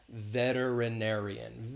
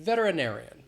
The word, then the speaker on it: veterinarian: e t e r that t is kind of pronounced as a d like uh especially in the united states it's that flap t sound which is more of a d veterinarian veterinarian veterinarian so a vet